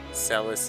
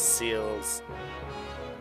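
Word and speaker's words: Celes: I spent years mispronouncing names in this game. Narsh is Narshi, Celis is Seals, Ga is Gao over Ga.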